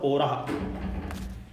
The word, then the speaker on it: पौराः: कौन दौड़े थे, पौरा, पौराव, पौरा, पौराह, बहुत सारे मनुष्य, शुद्ध उच्चारण होगा पौराह।